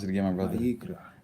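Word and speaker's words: ויקרא: Vayikra. Vayikra is how you pronounce it in Hebrew.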